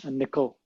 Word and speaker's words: N1QL: i it's called n it's pronounced nickel but n1ql is is